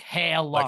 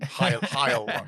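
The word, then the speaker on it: Heilung: You gotta Christian spell it because it's not H-I-G-H. H-E-I-L-U-N-G. Like Hail Lung. Like Hail Lung. Like if Hitler's was Yes, his exactly. name was Lung. Heil Lung. Yeah. Like say Heil Lung.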